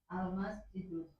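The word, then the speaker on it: المسجدُ: Al-masjidu. Ulangi. Al-masjidu. Al-masjidu. Du. Kalau dibaca dun begini benar apa salah Bu Penta? Kenapa salah? Karena ada alif lam.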